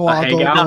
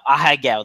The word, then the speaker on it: Ahegao: Go, go, Ahegao? No. Ahegao. That's it.